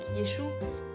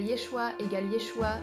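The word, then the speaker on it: ישוע: Et parfois, je voyais juste ces gens qui tenaient des pancartes avec Yeshua, qui est la prononciation hébraïque, comme le stéréotype hébreu. La prononciation pour Jésus égale Yeshua, ce qui signifie salut.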